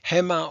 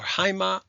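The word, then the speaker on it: αἷμα: If you've had ancient Greek, you've learned to pronounce that rough breathing, hema or haima.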